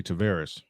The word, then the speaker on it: Tavares: gotten uh more pitching leoti Tavares is the correct pronunciation I am all off